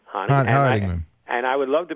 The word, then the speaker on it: Honigman: By the way, you spell your name Honigman. How you pronounce that? That's Honigman. Honigman.